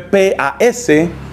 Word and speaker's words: Pascendi: El documento que condena el modernismo se llama la encíclica Pascendi, que se escribe P-A-S-C-E-N-D-I, Pascendi.